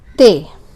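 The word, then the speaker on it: ت: And how you pronounce it is you put the front part of your tongue and place it between the 2 front teeth or incisors. Ta, ta, ta. So the name is te.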